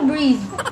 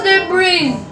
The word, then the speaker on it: debris: Debris. Sabi mo breeze. Oh, gumawa lagi siyang pagkuan, pagbigkas. Pero ang spelling, nagi panimot na ko. Eh. Sa pinakadulo? Oo. Ano yung last? S. Correct. Spelling again. Lo. Sige na. Wala naman akong ganun eh. Sige na. D. Diba? Oo. E. B. R. E. Ay. I pala. I. S. Oh, correct na yan. Sabi mo debris. Dapat debris. Mauna na pagkuan, pronounce.